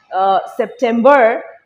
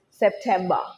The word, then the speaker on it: September: Notice আমি আরটা silent রাখছি, প্রনাউন্স করছি না। American accent wise R can be pronounced. They stress on the R. So it's like September for American accent, but for British accent, it is September.